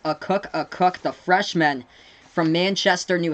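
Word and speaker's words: Akok: It's pronounced Cook, the freshman from Manchester, New Hampshire for the UConn Huskies.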